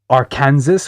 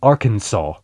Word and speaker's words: Arkansas: I had an American friend of mine told me that the way that I pronounced our Kansas was incredibly wrong and our Kansas is supposed to be Arkansas.